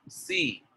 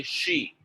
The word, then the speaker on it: she: So a lot of people say see and they don't say she, right? So you have to focus on sh, see, sh, see, sh.